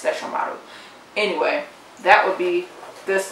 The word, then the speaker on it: Sesshomaru: Inuyasha I love you Yasha I love says Sesshomaru this is the way to say it in the English dub one but I believe the pronunciation like correctly it's Sesshomaru anyway that would be this lovely guy at